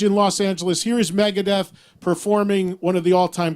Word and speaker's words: Megadeth: But James, how did they pronounce Megadeth? They didn't say Megadeth.